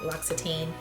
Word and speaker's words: L'Occitane: So in the other time I filmed this, I looked up how to pronounce this and I found a cute video from them, L'Occitane.